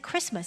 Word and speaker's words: Christmas: of course it's Christ must but we don't pronounce the tea inside Christmas it's a day of Christ and if you